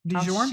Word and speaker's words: Dijon: Do you notice how she pronounced that? What? Dijon? didn't put an R in there, cuz it's not a pizza brand.